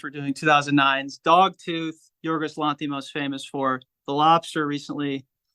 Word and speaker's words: Lanthimos: Lanthimos.